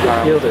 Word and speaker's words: Yildiz: And this is Yildiz. Has a smile on its face. The one is Yildiz. That's how you pronounce it.